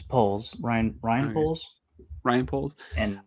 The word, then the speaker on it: Poles: was the scapegoat for how do you pronounce that Poes or poles it's poles Ryan Ryan poles Ryan